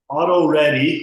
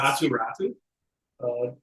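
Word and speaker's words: Aatu Räty: Auto ready is how I'm pronouncing it. I think it's Atu Ratu. That's where's Ratu? It's Atu Ratty.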